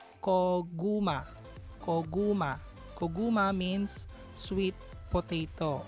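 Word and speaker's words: 고구마: First syllable is ko. Second syllable is gu. Third syllable is ma. Koguma.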